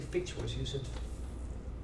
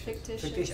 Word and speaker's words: fictitious: i say let's say features use it you're an extra syllable there i think it's fictitious i'm not sure okay